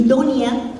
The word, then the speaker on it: doña: Y Donia no es Doña, como ustedes habrán oído, porque en Yucatán toda nuestra manera de hablar está relacionada con nuestra influencia maya. Todo nuestro estilo, nuestra pronunciación, la forma como se forman los fonemas, pues tiene la influencia maya. Y en maya no existe la ñ, y entonces no decimos doña, decimos donia, no decimos niño, decimos niño,